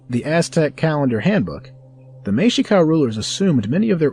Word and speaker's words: Mexica: Many who focus on the Aztec use the more appropriate term Mexica, pronounced Mexica.